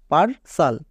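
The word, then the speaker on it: partial: না নেক্সট পারস সাল পারসাল কেন কারণ এখানেও দেখো শব্দের শেষে টি আই এল আছে এর মানে এর জন্য কি হবে সাল হবে কেন হবে কারণ ওপরে লেখা আছে এবং আমি বললাম যে টি আই এল থাকলে চোখ বন্ধ করে সাল বসিয়ে দেব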